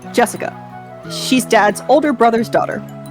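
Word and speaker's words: 朱志香: same kind of weird name anyway jesica is pronounced Jessica she's dad's older brother's daughter oh so we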